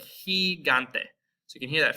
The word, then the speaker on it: gigante: We also have a soft G before E and I, kind of like the C. That's going to actually be our H sound in English. So we have words like gigante.